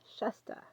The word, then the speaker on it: Shasta: Shasta. Like mustard without the RD.